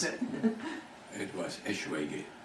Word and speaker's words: Eschwege: But I'm sure you can pronounce it. It was Eschwege, Eschwege. it's actually a town in Germany. Uh-huh. And when I was in the army, they called me all sorts of names, like Esqueechy, Squeechy.